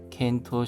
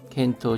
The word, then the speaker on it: 検討: 헨세요 켄토 시테이르도, 켄토 검토입니다. 켄토우입니다. 켄토 스루 검토하다, 켄토 시테이르도. 츠다와루 하면은 전달되다, 전해지다의 뜻입니다. 타동사는 츠다에루입니다. 츠다에루 하면은 전하다 또는 알리다의 뜻입니다. 켄토 시테이르도 츠다와리, 검토하고 있다고 전해지고.